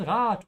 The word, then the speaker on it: Rat: Do not pronounce it like the English word rat. Ja, Rat.